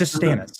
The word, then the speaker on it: Stannis: My favorite As a man who constantly pronounces things wrong, he's wrong. It's It's Stan- It's Stannis, okay?